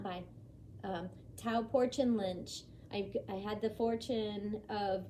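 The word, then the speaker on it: Tao Porchon-Lynch: And she has since passed, rest in peace, Tao Porchin Lynch. Amazing, amazing woman. If you don't know who she is, it's spelled Tao hyphen Porchon, Tao Porchin hyphen Lynch, Lynch.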